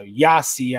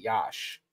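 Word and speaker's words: Iași: now present a malova so yasi I know a lot of people will see it and say it like that but one of the towns I actually know how to pronounce somewhat correctly Yash um I have Croatian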